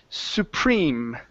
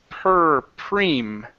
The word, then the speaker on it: supreme: here this is pronounced supreme Supreme supreme Supreme okay give me a good PR here instead of P it's perem supreme Supreme okay so what you